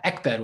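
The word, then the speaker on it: עקבער: editor corrected it to Ekber with a kif, so which I would still pronounce as Egber for phonetic reasons.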